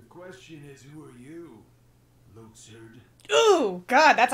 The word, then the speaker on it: Luxord: No, the question is, who are you, Luxord? Ooh, God, that's how you pronounce, that's how he says it?